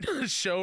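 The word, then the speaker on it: Xiao: 8 playing my favorites xia pronounce show you thank you for putting that in there but show rhymes with cow what hold on cou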